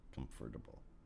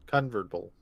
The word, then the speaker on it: convertible: that my Ferrari is a convertible convertible yes convertable no no comfortable convertable convertable it's